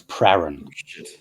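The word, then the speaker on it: Prahran: to spell it no I'm pretty sure it's pron that's the way I heard people on TV saying it anyway I I watched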